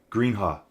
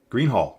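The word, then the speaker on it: Greenhalgh: He's saying Greenhall. Greenhall. It's just Greenhall. Don't pronounce the GH at the end.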